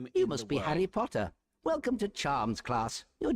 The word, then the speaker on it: Potter: Harry Potter with that short O sound in O P just like for example stop P and it ends with with awah PT as in the the car. For example, potter. Potter.